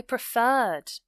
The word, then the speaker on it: preferred: For example, I preferred to take the bus. Preferred. So the stress is on the R section, the second syllable, if you like.